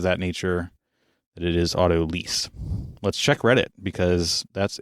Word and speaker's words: autolyse: see what they say well according to Reddit they site Alton Brown and I would trust him I think for knowing how to pronounce this especially as it relates to food and baking and all things Chef related that it is auto lease okay see so that's